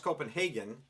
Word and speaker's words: Copenhagen: It's actually pronounced Copenhagen. Danny Kaye screwed it up for everybody by singing Wonderful, Wonderful Copenhagen in the film Hans Christian Andersen back Yes. in the 1950s sometime.